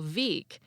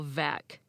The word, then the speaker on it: Veeck: Hall of Famer Bill Veeck but his name is actually pronounced Bill Veck the mispronunciation is so